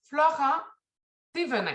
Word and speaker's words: Florent Thévenin: Donc, bonjour, ce matin, on reçoit Florent Thévenin. Est-ce que c'est comme ça qu'on le prononce?